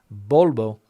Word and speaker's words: Volvo: pointing that out there that Volvo is pronounced bolbo here in Spain so Volvo another comment